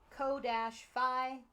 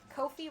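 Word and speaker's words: Ko-fi: I want to pronounce it Kofi, like Kofi Kingston. I know you do, but it's I'm probably 90% coffee sure because it's you're coffee buying a coffee. You're buying people a cup of coffee.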